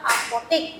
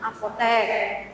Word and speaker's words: apotek: Ini juga ee biasanya sering salah karena dia itu yang harusnya kata baku tapi dia diucapkan tidak baku. Ini sering terjadi ya di lingkungan sekitar kita. Contoh nyatanya di pinggir jalan kalian sedang jalan kemudian ada kata-kata apotik. Nah, itu kan tidak baku harusnya apotek.